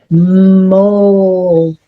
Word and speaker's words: mold: So, this O should say ah, but it doesn't. It says o and this word says mold.